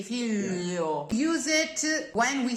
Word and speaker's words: figlio: In words like figlio, the I is spelled only to signify that it's not figlo. We'll not actually hear it. We don't say figlio. We say figlio.